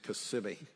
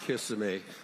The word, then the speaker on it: Kissimmee: It is Kissimmee. Kissimmee. Not Kissimmee. Kissimmee.